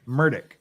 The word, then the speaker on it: Murdaugh: the defendant's name the same way the defendant pronounces murdick there's Murdoch and Murdoch's just real quick yes